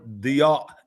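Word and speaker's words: ضياء: The word diya is the right way to say it.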